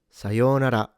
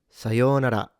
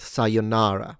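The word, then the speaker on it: さようなら: In Japanese, this is pronounced sayonara, sayonara, sayonara, sayonara. Alright, so the first thing you're noticing is that it's not pronounced sayonara. So no stress on na. In fact, no stress anywhere.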